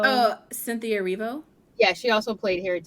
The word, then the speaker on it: Erivo: I don't know how to pronounce her. Ervio. Oh, Cynthia Erivo.